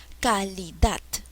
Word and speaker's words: calidad: está el acento calidad a ver voy a probar con cada sílaba calidad no no es calidad calidad no tampoco es calidad cuál es la sílaba que se lleva la mayor fuerza de voz es por ende calidad es una palabra aguda